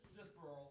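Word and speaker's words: Birle: Burley? We'll see. Just Burl is the way it's pronounced.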